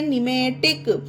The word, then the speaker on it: pneumatic: ठीक है guys, P के बाद एन आए तो पी साइलेंट रहेगा, तो इसे पढ़ते हैं निमेटिक। उसी तरह से इसे पढ़ते हैं निमेटिकल। ये देखिए निमेटिकल, पी के बाद एन आया है तो पी साइलेंट है, इसे निमेटिकल पढ़ा जाता है।